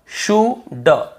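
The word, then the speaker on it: should: डी के पहले है डी के पहले यदि एल है तो हमें उसे नहीं पढ़ना है कुड वल्ड शुल्ड नहीं पढ़ना है केवल कु ड वु ड शु ड कुड वुड शुड यहां पे एल का रोल ही नहीं है कुड वुड शुड पढ़ना ही नहीं है लेकिन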